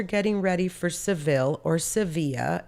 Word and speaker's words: Sevilla: about the fact that we call it Sevilla, porque así se dice. That's how you say it.